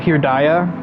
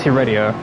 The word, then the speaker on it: Heredia: And I don't think I ever said it wrong, as much as my brain briefly thought it was pronounced Heredia, or Herdia. No, it's Heredia.